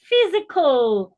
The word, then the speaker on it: physical: Physical, C-A-L. The A there is almost silent, physical.